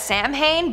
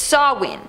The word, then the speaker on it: Samhain: countdown we have sarwin which I always pronounce as Samhain but apparently it's sarwin don't know how but okay anyways this